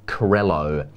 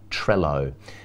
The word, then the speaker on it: Crello: But we were actually talking about Crello, not Trello. We were talking about Crello, spelled with a C.